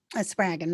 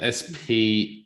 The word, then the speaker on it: Spraggon: Spraggon rhymes with dragon, 2 G's. Spraggon Dragon. Yep. Spraggon.